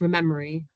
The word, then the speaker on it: ReMeMaRe: ReMeMaRe stands for Restoring Meadows, Marsh and Reef, pronounced ReMeMaRe, so called as we're remembering what we once